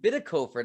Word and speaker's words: Bitikofer: I have on Zoom with me right now, Austin Bitikofer. Did I pronounce that correctly?